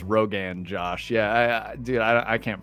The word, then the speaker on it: Rogan Josh: It's not Rogan Josh. It's Rogan Josh.